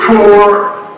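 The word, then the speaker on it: תּוֹרָה: And the word is spelled in the Hebrew, the word form is spelled T-O-A-R. But the A-R is like, you say? Torah.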